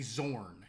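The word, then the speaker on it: Xorn: remember who knew about zorns which one of you roll high on zorns it might have been shishu actually perhaps trying to find zorns there it's spelled with an X um x-o-r-n and uh I believe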